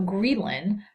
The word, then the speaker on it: ghrelin: So ghrelin, or ghrelin, depending on how you want to pronounce it, is secreted in the stomach from endocrine cells, and it acts on the hypothalamus to stimulate appetite.